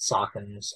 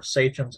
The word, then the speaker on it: sachem: are more properly called, sachems or sachems. I've heard it pronounced both ways.